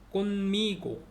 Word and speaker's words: conmigo: 그다음에 n이 mpv와 발음이 되면 m 발음이 된대요. 그 미음 발음. 꽃미고, 꽃미고, 꽃미고네. 꽃미고, 꽃미고. conmigo인데 꽃미고.